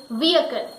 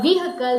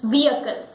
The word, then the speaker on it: vehicle: this is our next word, and that is vehicle. Many people say it vehicle because it is H-I-C-L-E, or many people also say it vehicle or vehicle. There are different pronunciation around, but the correct pronunciation is vehicle.